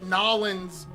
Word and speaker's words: New Orleans: Marching In, which is a classic Nollins. That's how they say it. That's how the locals say it.